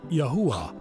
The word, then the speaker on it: Yahuwah: It is spelled Yod-He, Yuah-He, and pronounced as Yahuwah.